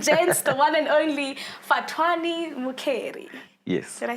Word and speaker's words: Fhatuwani Mukheli: Ladies and gents, the one and only Fhatuwani Mukheli.